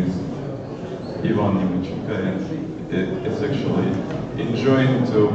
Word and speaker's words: Ivan: you yeah my name is my name is Yvonne it is sexually enjoying to pronounce it like this and not like I've